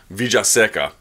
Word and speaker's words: Villaseca: I was always taught the two L's in Spanish become a Y, the Y becomes a J sound. So Villaseca.